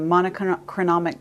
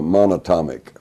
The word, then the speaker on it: monatomic: from heaven uh you know the the the monochronomic gold monotonomic how do you say it the uh it's the single atom gold uh monatomic monatomic gold okay orbitally rearranged monatomic gold single